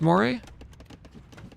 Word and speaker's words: m0re: Mo is pronounced Mo like the eel. He's a Spanish player. So is it pronounced moray?